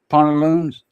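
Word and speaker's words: pantalon: It's a pont instead of pant. Pont, like a point, but pont. Haunt, haunted house. Haunt, like that. Pont, pantaloons.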